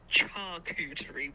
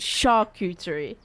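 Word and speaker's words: charcuterie: did you say did you say is it pronounced cheese and meat board it's a shaky board not a chy board shaky it's what shakery sha not Chara yes okay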